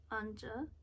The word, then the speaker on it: An Zhe: There's a pronunciation guide. Boop. Okay. Anja.